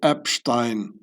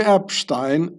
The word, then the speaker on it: Epstein: extensive ties between Jeffrey Epstein and Switzerland. So, I pronounce the this name the German way because there's a um a family a aristocratic family in Austria, von Epstein. Stein, it means stone and